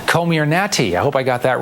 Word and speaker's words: Comirnaty: Yeah, because it sounds like Illuminati, but it's Comirnaty. Called Comirnaty.